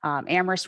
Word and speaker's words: Amherst: before, we do say Amherst, where only the H is silent.